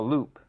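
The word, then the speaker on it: loupe: i have no idea a loop but it's spelled l-o-u-p-e interesting simple small magnification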